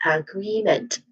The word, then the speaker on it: agreement: Now the final syllable here meant um it is also unstressed and it has a vowel sound that iswa that is following a sound. Again it's weak and unstressed vowel sound. So sorry. So again the stressed syllable is the second syllable. So this is agreement again. Sorry for that agreement.